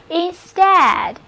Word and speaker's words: instead: Steady 就是使什么平稳。下面我们来看这个单词 instead。 instead, instead. 同样的道理 ,stead 的部分相当于 stand。那么在前面加上一个 in 前缀表示进入，所以 instead 就是表示代替。我们这样来联想记忆，本来是我站在屋子里的，现在你进来了，你代替了我的位置站在这里，所以 instead 就是代替。好了 ,EA 字母组合读作 A, 单词就读作 instead, 重音是放在第二个音节上的。通常我们是用词组 instead of, 来表示代替了什么。例如我们本来是要去意大利的，结果去了法国，就可以说成